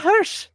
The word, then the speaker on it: Hirsch: Then why should I call you the German pronunciation then if you're not German? I call it Hirsch.